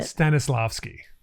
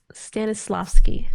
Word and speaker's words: Stanislavski: an interesting uh Constantine Stannis how did you pronounce it stanislavski stanislavski nailed it Stanis that's how you say it